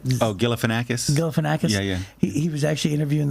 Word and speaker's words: Galifianakis: Zach, how do you pronounce his name? Oh, Galifianakis? Galifianakis?